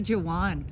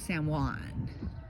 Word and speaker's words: San Juan: So now I told Bluan I said I'm calling you Jawan from now on. I go hi Jawan. You don't pronounce the J. It's San Juan.